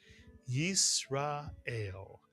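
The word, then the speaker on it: ישראל: And the entire first syllable would be read as Yis Mitsuyan. Yis. The second syllable. Ra Mitsuyan. And the third syllable. Ael Mitsuyan. Put the three syllable word together and you get Yisra ael.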